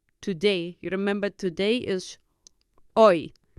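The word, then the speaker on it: hoy: uh very busy today you remember today is oi h o y o so I'm not very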